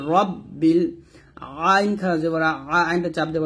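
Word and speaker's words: ربِّ: হবে আল আলহামদুলিল্লাহি রব্বিল এখন আমরা অনেকে রটাকে রা পড়ি এটা হচ্ছে রা বললে এটা পাতলা হয়ে যায় এটা কিন্তু ভুল উচ্চারণ রা বলা যাবে না র বলতে হবে তাহলে হবে রব্বিল আইন খারাপ আইনটা চাপ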